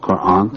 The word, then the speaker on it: Quran: on my pronunciation myself of Quran long a uh how about the